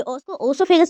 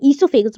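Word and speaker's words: oesophagus: ये जो एनम ये ओसोफेगस नहीं बोलते। कुछ लोग इसको ओसोफेगस बोलते हैं। पर एक्चुअली में ओसाइलेंट है। इसको इससोफेगस बोलते हैं।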